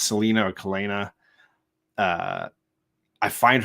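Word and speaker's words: Celaena: Roses I think uh I think it's pronounced Selena but I was it looked uh celti to me oh hi Mama Hi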